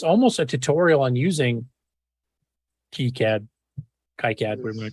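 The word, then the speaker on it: KiCad: yeah even though it's spelled Kai cat it's pronounced keycad okay cat meow I've seen a presenter at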